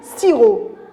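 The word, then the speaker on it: sirop: allez on y va ciro très bien on prononce pas la lettre e p bravo on lit siro un autre exemple une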